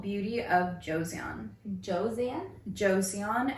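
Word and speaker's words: Joseon: what was it called it's called beauty of Josan Josan Josan it's yeah I hope I'm pronouncing it right but it's j o s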